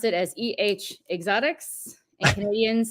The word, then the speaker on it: Xotics: you just mentioned it there's no e on the front of the actual word Exotics and the last thing